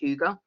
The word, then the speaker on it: hygge: chat that's how you spell it but it's pronounced hyuga um and it's from those sort of like